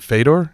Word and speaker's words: Fedor: so much Prestige there was a guy named feder Emiliano who everybody really considers to be the great what was his name was it fed Fedor Fedor sorry Fedor Fedor emilianenko great pronunciation on